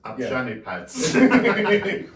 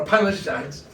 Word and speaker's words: Upanishads: Well, at least you can pronounce Upshanipads. A Upanishads.